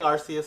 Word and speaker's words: Arceus: No, I'm saying Arceus because that is the proper way to say it.